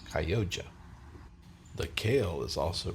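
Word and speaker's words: Chioggia: Last week I pronounced the beets chayoga, but it's actually pronounced Kyoja.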